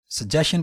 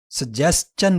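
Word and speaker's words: suggestion: सजेशन पढ़ना गलत है। करेक्ट प्रोनाउंसिएशन ब्रिटिश इंग्लिश आप चूज़ करें या अमेरिकन इंग्लिश को पढ़ना पसंद करें, दोनों में इस लफ्ज़ को सजेस्चन पढ़ा जाता है।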